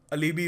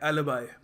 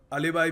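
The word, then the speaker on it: alibi: देखिए अगला शब्द है ये, काफ़ी लोग इसको प्रोनाउंस गलत करते हैं, ये अलीबी वगैरह कह देते हैं। इसको प्रोनाउंस करने का सही तरीका है एलिबाई। एलिबाई, चलो थोड़ा इंडियन एक्सेंट भी हो गया तो अलीबाई भी चलता है कभी कभी, पर अलीबी मत बोल देना, एलिबाई, ठीक है।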